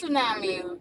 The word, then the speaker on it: tsunami: That's Like it's tsunami.